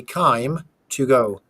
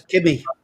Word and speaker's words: Kime: to pronounce the word Kime. Kime to go is time. Basically, it's time with a K. So you say Kime to go.